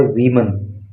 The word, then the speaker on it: women: देखो जब WOMAN होता है तो उसको पढ़ते हैं वुमन, उसका मतलब होता है एक महिला, और जब WOMEN होता है तो इसका अर्थ होता है वीमन, तो इसका प्रोनाउंसिएशन होता